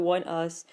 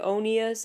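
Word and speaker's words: ONEUS: while I'm talking about one us doesn't it sound a lot better if you pronounce it onas I know it's not how you should pronounce it but to be or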